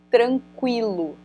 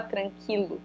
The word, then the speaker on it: tranquilo: que eles vierem então tem palavras em que esse U Ele é super pronunciado tipo por exemplo tranquilo tu não fala tranquilo fala tranquil Então esse q não é um dígrafo tá então aqui eu